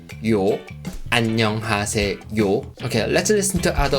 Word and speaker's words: 요: this as for me the last syllable sounds like you know you is the thong that means your sounds start from very short and unclear why sound and move on to the next sound or like yo yo